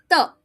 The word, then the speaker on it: 的: I repeat, 的. Remember, you're not going to blow this word because it starts with a D. So you pronounce it without blowing, 的.